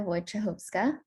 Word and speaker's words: Wojciechowska: lyftdc i'm excited to catch up with claudia wojcichovska a chef alumna who recently started med school